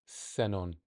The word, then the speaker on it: xenón: But if it's in the beginning, it's like an S or a sh, ship. So, okay, so let's go back. Let's see what we do with that information. S, xenon.